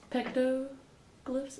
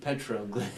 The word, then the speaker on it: petroglyph: And so I did hieroglyphs, pictoglyphs, is that how you pronounce it? Petroglyph.